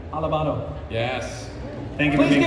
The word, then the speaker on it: Alabado: Alabado.